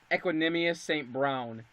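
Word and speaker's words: Equanimeous St. Brown: Now I don't know if I'm going to be saying it right either, but I believe it's pronounced Equanimous St. Brown.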